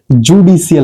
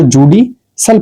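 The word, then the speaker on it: judicial: अब आप क्या पढ़ते हो? जुडिशियल पढ़ते इसको। जुडिशल क्या पढ़ते हैं इसको? जुडिशियल पढ़ेंगे इसको। ठीक है? इसको जुडिशल पढ़ा जाएगा। जुडिशल।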